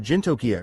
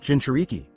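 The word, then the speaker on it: jinchūriki: Naruto gave a nod you said something about Ginia or something it's pronounced Jin shariki it's a word my wife invented and used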